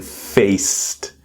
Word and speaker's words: faced: So in our pronunciation we have encountered, encountered, resolved, resolved and then faced. So the present tense is face and with the t sound in the past faced.